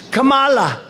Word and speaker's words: Kamala: No, my name is Kamala, like comma.